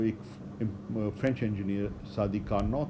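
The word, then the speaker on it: Carnot: तो जो एक फ्रेंच इंजीनियर सादी कार्नॉट था, इसमें जो कार्नॉट लिखा जाता है तो टी जो है वो साइलेंट है, तो सादी कार्नॉट जो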